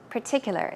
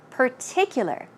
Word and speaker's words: particular: r Pur Pur and in this case there is no r sound it's a p p so let's try it out particular particular this time P